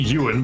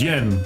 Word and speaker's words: Yen: You're still pronouncing my name wrong. Well, if it ain't Yuan, then it's like Yin or something. Or just Yen. Which floor would you like, sir? It is Yen.